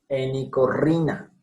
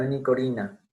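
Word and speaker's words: Henicorhina: Enicorrina, no enicorina, enicorrina. Es otra palabra compuesta.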